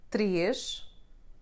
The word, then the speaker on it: três: E sounding like E is a nasal sound, and it's somehow the sound between pin and pen in English. It happens when you have a circumflex accent in the corresponding syllable. In words like três, pêssego, or Portuguese.